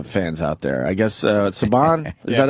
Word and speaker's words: Subban: I guess Subban?